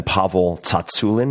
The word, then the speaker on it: Tsatsouline: Beyond and my guest is none other than pavle Tulin and yes that is how you say it